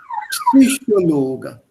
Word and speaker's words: Psychologe: The P and S have to be pronounced together, please. Epsilon. Epsilon here, das Alphabet ist Epsilon. So Epsilon, Psychologe.